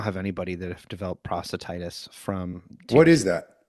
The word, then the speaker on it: prostatitis: Is it prostasis? Is that how you say that? Prostatitis.